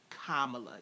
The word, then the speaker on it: Kamala: she pronounces her name it's kamala y'all comma pamela as a person of